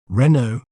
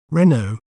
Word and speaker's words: Renault: word to better understand its pronunciation we may pronounce it as Renault Renault re no Renault Renault is also known for its innovative designs